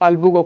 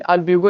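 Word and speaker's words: Albugo: और आपका अल्ब्यूगो की बात करते हैं सरकार, यहाँ पे अल्ब्यूगो भी बोल सकते हैं या फिर अल्बुगो, कोई प्रोनाउंसिएशन हर लोग का अलग अलग हो सकता है नहीं, लेकिन अल्ब्यूगो इसको पढ़ते हैं आपका।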